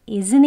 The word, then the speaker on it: isn't: 들어가야 합니다 isn't here he isn't Here is 하는 거예요 겉으로 소리는 하고 내진 않죠 isn't here 이렇게 발음이 되어야 그 원어민들의 발음입니다 한번 천천히 해볼게요 he